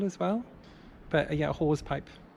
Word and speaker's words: hawse pipe: well, but yeah, a hawse pipe, not a hose pipe, a hawse pipe, not a hawse pipe, a hawse pipe. It's spelled like that.